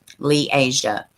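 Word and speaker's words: Li'Aziah: how uh let's see pronounce liasia oh okay liasia had died i'm glad they clarified that i wish every article would do that lee asia the family would later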